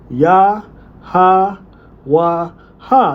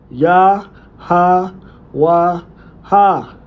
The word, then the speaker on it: Yahawah: ya ha wa ha and it has it here. So a historically plausible pronunciation using only the consonants plus the natural a sounds would be ya ha wa ha. This preserves the co the consonental skeleton.